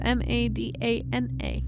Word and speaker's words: Madana: God not Madonna Like not it's not spelled like Madonna like madona maybe no it's m a d a n a oh Madonna just not